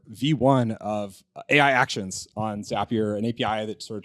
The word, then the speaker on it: Zapier: next we founder demos Mike from zapier which rhymes with happier is uh is gonna